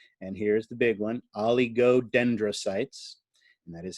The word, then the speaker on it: oligodendrocytes: And here's the big one, oligodendrocytes. And that is how you pronounce it.